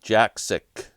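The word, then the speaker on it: Jakszyk: book um Jacko Jacki uh yes Robert it's pronounced Jack sick Jack sick that's it my buddy Robert has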